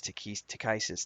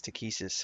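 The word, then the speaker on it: Takhisis: the dark dragon goddess to kisses to kisses however you want to pronounce this um i always pronounce it to kisses but books have a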